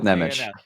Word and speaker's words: Nemec: Let's go with Nemec. Okay. Well, we can ask him when he gets traded here. How about that? Yeah, exactly. But Nemec, I think, is the correct way to say his last name, at least.